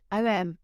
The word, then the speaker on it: Om: So, I chose the word OM because it rhymes with home, and I was so desperate to come back to my pre-accident body and reclaim my home.